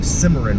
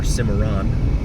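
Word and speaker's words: Cimarron: to be a deterent crossing simmer road now or simmeron I've heard it pronounced both ways as we continue westbound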